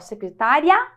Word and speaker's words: secretária: que o i é mais forte só você pronunciar secretária secretaria então aqui o e é forte e